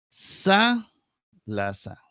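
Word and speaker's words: θάλασσα: Sa, la sa. Sa, la sa. Sa, la, sa. Y aquí viene esta acentuada en la antepenúltima sílaba.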